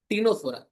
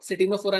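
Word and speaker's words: Ctenophora: Coelenterata and this one इज टिनोफोरा, ठीक है। सी is silent, सिटिनो मत पढ़ना, ठीक है। सिटिनोफोरा नहीं है, ये क्या है? टिनोफोरा, okay.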